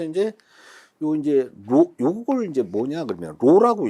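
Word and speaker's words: ρ: 그래서 이제 요걸 이제 뭐냐 그러면 로라고 읽어요. 로. P가 아닙니다. 로.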